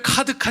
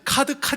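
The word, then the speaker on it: 卡: 5 잘하시네요 이게 왜 카드가 짜자 이 카드가 짜야 카 카 라고 발음합니다 오 오오 예 대단한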